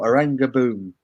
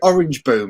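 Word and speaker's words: Oranjeboom: Because I was saying Orange Boom, and everyone took the piss out of me for saying Orange Boom. Because it is Oranga Boom.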